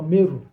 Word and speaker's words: Murray: river that is called River meru but the the Europeans spell it as River Murray m-u-r-r-a-y but the historical term is River meru because that entire area